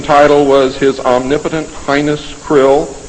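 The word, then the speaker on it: Krll: His name and title was his omnipotent highness krill, pronounced krill, spelled K R L L or C R L L.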